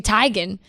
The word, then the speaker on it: Teigen: grande and it's and chrissy teigen is apparently chrissy tygan but everybody's just changed it